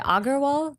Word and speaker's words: Agarwal: Is it Agarwal?